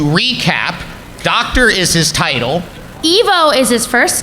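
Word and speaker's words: Ivo: his first name and it's specifically Evo it is very specifically Evo a lot of people even the movies get that wrong but Dean Sittin originally intended it to be Evo pronounced like evil you can hear Mike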